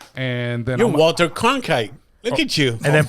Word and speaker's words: Cronkite: I thought he said Klondike.